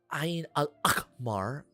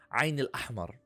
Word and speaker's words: Ain al-Ahmar: It's not Ain al-Akhmar. No, it's Ain al-Ahmar, which translates to the red eye.